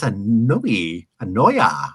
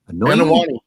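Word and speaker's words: Anoaʻi: Born March 28, 1973 in San Francisco, he was a member of the famous Anoya. How do you say that? Anoya? Anawani. Anawani, that's better.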